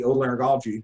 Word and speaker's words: otolaryngology: The reason I do head and neck surgery is because when I was a med student in the otolaryngology, that's how you pronounce it, department, all the surgeons were super happy, and they really loved their lives.